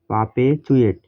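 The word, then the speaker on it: perpetuate: TUATE এতে চুয়েট হয় এই থেকে পর্যন্ত চুয়েট পাপে চুয়েট ভাওয়েলের পরে এই আরের উচ্চারণ হয় না এটা হচ্ছে শুদ্ধ ইংরেজি তারপর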